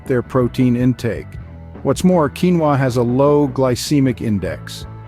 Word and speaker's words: quinoa: this Tiny But Mighty grain pronounced as quinoa originally hails from South